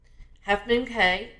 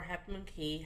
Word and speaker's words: Half Moon Cay: We went to Half Moon Cay. That's or Half Moon Key, however you want to pronounce it.